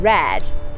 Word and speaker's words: Raad: in this name too often when you see a double a in manx like in red you get an air sound in the middle of